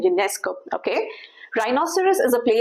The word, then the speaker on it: Ionesco: That's the pronunciation, Ionesco.